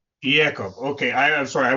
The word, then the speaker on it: Yacoub: Yakob. Yakob.